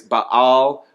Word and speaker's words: Baal: He traded in God for the god Baal, or if you want to say it correctly, it's Baal, or I've heard people say Baal.